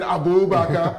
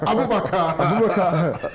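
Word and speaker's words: Aboubakar: Stop saying Abubakar. Abubakar.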